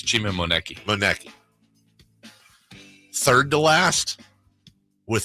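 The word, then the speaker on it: Chima Moneke: It's Chima Moneki.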